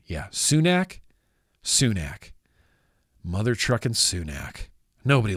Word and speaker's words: Sunak: Yeah, Sunak.